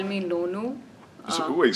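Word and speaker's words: Nonu: was it my parents used to call me lono so wait spell it n-o-n-u no no yeah okay yeah it's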